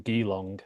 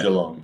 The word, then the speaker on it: Geelong: Like for a while there were all these bands from Geelong. I think that's how you pronounce it. Obviously, Geelong, yeah. Geelong. Yeah. Geelong.